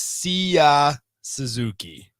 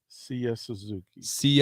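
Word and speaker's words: Seiya Suzuki: answer it yes okay see if he can pronounce it yeah i believe it's sia suzuki siya suzuki uh s-e-i-y-a suzuki who five years 70 mil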